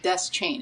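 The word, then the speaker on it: Deschain: So, people fight about this all the time, but Stephen King pronounces it desk chain.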